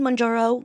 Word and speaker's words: Mounjaro: Where right now I'm like, okay, Do I need Mounjaro? Is that how you say it? Mounjaro.